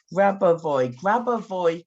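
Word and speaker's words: Grabovoi: Now, I want to tell you about, let me say his name properly, Grabavoy codes, okay?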